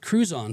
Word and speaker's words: Crouzon: But he was born with Crouzon syndrome. That's how you pronounce it, right?